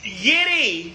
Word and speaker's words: Yitty: And how do you say that? Yiddy. Thank you. Yiddy. Like Liddy. Yiddy.